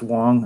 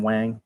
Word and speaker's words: Wang: It's pronounced Wang. In fact, I think he actually gets angry if you call him Wang.